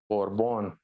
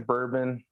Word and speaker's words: Borbon: you feeling you know you actually pronounced my last name right a lot of people don't get that borbon yeah yeah but it's so uh bourbon or something yeah they typically it's bourbon but you know the u isn't there so corbin bourbon yeah